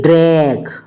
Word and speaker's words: drag: DRAG जी ending letter है, इसलिए ड्रैग, ड्रैग means क्या होता है, खींचना, तो यहां पर भी प्रोनाउंसिएशन जी की गा है।